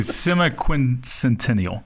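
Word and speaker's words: semiquincentennial: It is the semi-quincentennial. Semi-quincentennial? Yes. So, you get you kind of like start going backwards. Semi-quincentennial. Yeah. That's how you say it.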